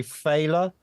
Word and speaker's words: Phaeleh: I think most people say Phaeleh. I have been told it should be pronounced Phaeleh, I believe. That might have been it. I can't remember. But fella or Phaeleh, I'm cool with. Any other pronunciation is also fine.